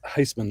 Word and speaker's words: Huisman: it's Heisman, like the Heisman.